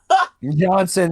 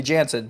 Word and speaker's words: Jansen: Um, Johnson, who by the way, that's how Tolman kept pronouncing his name. He kept calling him Johnson Miller, and I was like, are you sure about that? This is pretty clearly Jansen, but whatever.